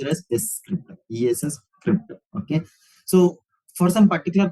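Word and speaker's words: scrypt: It is pronounced as a script, ESS script.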